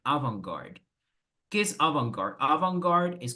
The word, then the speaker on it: avant-garde: Pero vamos a pronunciar avant-garde.